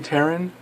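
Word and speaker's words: Pteran: need them all three taryn because the P is silent as in pterodactyl when this card destroys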